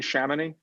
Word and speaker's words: Chamonix: Chamonix? Yeah, it's French.